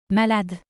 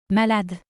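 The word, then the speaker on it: malade: mad mad in French the letter e at the end is always not pronounced Malad so how do you say I'm sick Malad Malad how could you say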